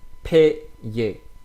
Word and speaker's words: paye: So when you have a plus y, you will pronounce that like e. So you will pronounce the a like e. Okay, so it will be paye, paye, paye. It's not paye, but it's paye.